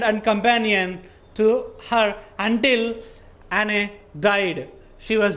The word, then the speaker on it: Anne: Okay, Anne Sullivan, not Anne Sullivan. You should pronounce A-N-N-E as Anne.